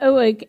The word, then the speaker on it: Uig: Uig, it said Uig as in Iggy Pop.